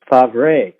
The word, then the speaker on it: Favre: But he's always called Brett Favre, as if it's F-R-A-R-V-E, and it is not. It's basically, I did take French in high school. I think the way his last name used to be pronounced from his father and grandfather would have been Favre.